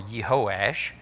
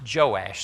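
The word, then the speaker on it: Jehoash: died and jehoiash or yehoash his son succeeds him now that name can also be pronounced joash so we have joash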